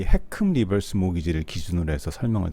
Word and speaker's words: HECM: 이렇게 일반 은행이 아니고 정부가 개입하는 리버스 모기지의 정식 이름을 HECM, 읽을 때 해큼이라고 읽는데요. 해큼 리버스 모기지라고 부릅니다.